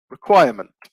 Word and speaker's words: requirement: anyone guess this one it would be require requirement so again best remains on the second syllable require requirement an adjective